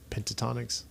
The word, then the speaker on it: Pentatonix: Bring on Mariah Carey and Pentatonix and Michael Bublé. Pentatonics. I forgot about them. Don't you dare. Is it Pentatonics or Pentonics? Pentatonix.